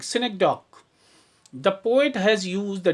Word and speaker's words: synecdoche: We pronunciate it like synecdoche.